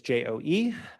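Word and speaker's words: Joh: it, and usually it's J-O-E. I had a friend at one point whose name was J-O-H and pronounced it Joe as well.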